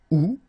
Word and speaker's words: août: Janvier, janvier, février, février, mars, mars, avril, avril, mai, mai, juin, juin, juillet, juillet, août, but then it's possible to pronounce it août, septembre, septembre, octobre, octobre, novembre, novembre, décembre, décembre.